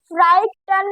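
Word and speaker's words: frightened: इसको बीच में से कुछ अल्फाज इसके हैं वो है उनको नहीं पढ़ा जाता। फ्राइट फ्राइटेंड, इन दोनों को नहीं पढ़ेंगे, साइलेंट है। फ्राइटेंड फ्राइटन नहीं पढ़ेंगे, फ्राइटन पढ़ेंगे इसको।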